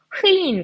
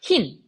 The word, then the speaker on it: 흰: 자, 그래서 얘네들 최종적으로 발음이 되는 거 생각해보면 흐인 같은 경우에는 흐인 이렇게 발음하는 게 아니라 흰.